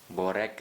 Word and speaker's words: Borek: kemudian Akiong Syahdan kucai borek Alia Samson kalau di filmnya disebut borek tapi di dalam bukunya seharusnya bacanya bore ya terus kemudian ada